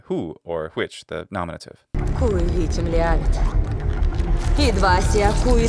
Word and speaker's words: qui: The way that she pronounces qui is to say cui, and that may be because the sound of w isn't regularly, in fact, pronounced at all for most Slavic speakers when dealing with Latin. This may not be something she's trying to do. I was actually expecting kvi, because that's the traditional pronunciation originally from Germany and